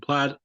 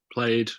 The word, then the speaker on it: plaid: song from the album Tangled Up and plaid um or played I mean apparently both pronunciations are correct but I'm gonna say plaid because whatever um you know